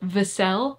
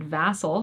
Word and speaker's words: Vassell: The Other Half by Charlotte Vassell. That's how her last name's pronounced. I'm so sorry for all of the times that I said Vassell, but I finally looked it up as I